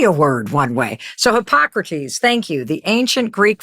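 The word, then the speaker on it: Hippocrates: You know, there's this super famous quote from I can never say this word like hypocrats or hippo hipp how how do you say this? Hypocrates.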